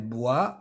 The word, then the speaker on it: boit: Le O et le I se prononcent wa. Boire. Le verbe boire. يشرب. Elle boit de l'eau.